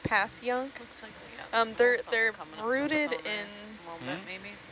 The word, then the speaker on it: Passyunk: um there's also fun fun ones like Passyunk but it's like pass young um they're they're rooted